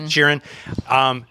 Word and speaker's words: Sheeran: Sheeran.